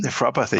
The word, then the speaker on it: Nephropathy: The reversal of diabetic, how do you pronounce that? Nephropathy? Nephropathy, yeah.